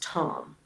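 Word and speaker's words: Thom: the director uh writer his his name is pronounced Tom it's it's basically pronounced Tom it's not Farm or them and it's Tom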